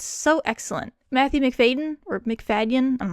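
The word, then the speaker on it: Macfadyen: Matthew McFaden or McFaden. I'm not sure how to pronounce his last name. McFadian.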